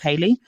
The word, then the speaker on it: Haley: by Khloe and Haley a lot of people say haly but Haley recently revealed that her name is pronounced Haley so Chloe and Haley